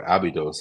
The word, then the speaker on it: Abydos: We were on our way back from Abydos, or Abydos, as it's often um, pronounced, the temple, one of